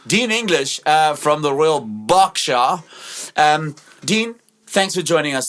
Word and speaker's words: Berkshire: And because I know you, Royal Berkshire is where you come from. Ooh, is that a B-A-R? No, B-E-R. Royal, Lovely. but yeah, that's how posh. You posh when you pronounce Berkshire as Berkshire.